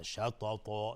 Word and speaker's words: شططا: پشت سر اومده شططا، نمیگیم شططا، یعنی تا رو نازک تلفظ نمیکنیم، تا صفت استعلا داره، یعنی از حروف استعلا، یعنی غلیظ باید شططا شططا تا، یعنی زبان به طرف سقف دهان میره شططا.